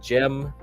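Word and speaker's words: Cem: to what's his face Gem Gem Carson that that dude like yeah that dude's like really into that stuff so his name he's a Turkish guy so jeem Carson is spelled with the c okay so you can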